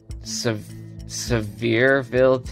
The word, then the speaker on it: Sevierville: Sevierville, Tennessee.